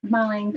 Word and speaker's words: Marlen: yep so it's just marlene so marlene pronounced marlon m-a-r-l-e-n i was born in germany makes sense in german but not in english um on instagram or